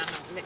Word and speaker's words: McMahon: Even though it's spelled not... Yeah, it's McMahon.